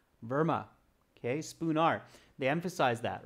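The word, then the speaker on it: Spoonar: street okay what is his address spoo nar spelled with an a m verma okay spoon r they emphasize that right so spoon r-s-p-o-o-n-a-r spoon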